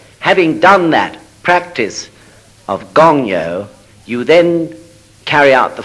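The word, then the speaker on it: 勤: practice, Gyo, G-Y-O, and the Gon of Gongyo, G-O-N, means assiduous, or it could mean eager, or endeavoring strongly, striving hard. All those things can be meant by the character that's pronounced Gong.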